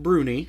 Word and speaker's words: brownie: Brownie, although sometimes pronounced Brunie. Brun. Brunie. You're right. from the Scots in particular.